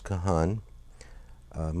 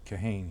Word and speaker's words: Kahan: June, 1990, with Kahan. Am I pronouncing your name? Well, we pronounce it Kahan here, Kahan. but it was pronounced Kahana in Europe, so...